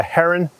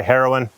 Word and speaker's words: Heroin: I picked up a Heron. Heron. Is that how you say it? A lot of people might say heroin, but a heroin deck.